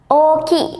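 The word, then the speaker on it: 大きい: Nah, yang pertama adalah oki nih minasan. Oki. Jadi, o-nya double, i-nya double juga ya.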